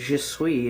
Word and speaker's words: je suis: Because the verb of being is je suis, and it's spelled J-A space S-U-I-S. Where the fuck does the other S go? You just don't say that extra S.